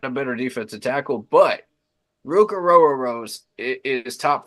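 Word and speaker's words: Ruke Orhorhoro: better defensive tackle, but Ruka Rose is top 5. If you're looking Okay. for a defensive tackle, and yes, that is actually how you say his name. A row your boat.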